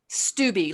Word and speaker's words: Stubbe: Stubbe, like stewed tomatoes, be like Bumble, Stubbe.